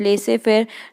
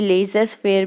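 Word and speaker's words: laissez-faire: Earlier economist supported the policy of लेसे फेयर, जो यहाँ पे वर्ड लिखा है LAISSEZFAIR, यानी कि लेसेस फेयर भी हम पढ़ सकते हैं, पर इसका प्रोनाउंसिएशन होता है LEH, ले से फेयर।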